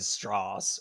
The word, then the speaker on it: Strauss: Louis Strauss yes yeah but he said straws or straws strassa and that was another thing Wikipedia mentioned is how it was odd that he pronounced his name like that and people thought he